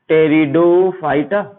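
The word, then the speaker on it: Pteridophyta: तीसरा है टेरिडो, पी से स्टार्ट होती है, पी साइलेंट रहेगा, टेरिडोफाइटा।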